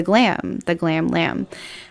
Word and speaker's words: Glam Lamb: And so I basically renamed myself the Glam Lamb. And the B is silent.